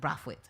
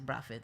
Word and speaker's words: Brathwaite: I'm trying to say it like how he says it, Brathwaite, but it's like I'm hearing how we say it in Trinidad, which is Brathwaite.